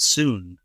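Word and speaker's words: Sun: One of the people who competed was Mr. Soon, they called him, S-U-N, but they pronounce it Soon.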